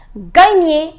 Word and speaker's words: gagner: The pronunciation is gagner.